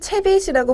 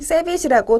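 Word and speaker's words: CeBIT: 독일에서는 채빗이라고 부르지만 우리나라에서는 미국식 발음인 세빗이라고 더 많이 불리고 있습니다.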